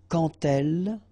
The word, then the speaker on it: quand elle: So like that, quand elle. All right, same rule here. Remember, when you will have this D, you will phonetically pronounce it like T.